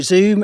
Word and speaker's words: Zzoomm: great to see you zoom is spelled double z m so not not to be confused with the video conference company let's dive in with